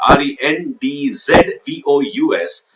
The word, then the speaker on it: rendezvous: The spelling of rendezvous is Rendezvous, but its pronunciation is Rendezvous with Ray.